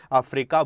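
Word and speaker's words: fracas: उस क्वारल को भी हम फ्रेका बोलते हैं, ये आपका नाउन की तरह यूज होता है, अफ्रीकाज नहीं होता अफ्रीका, ये सही इसकी प्रोनाउंसिएशन।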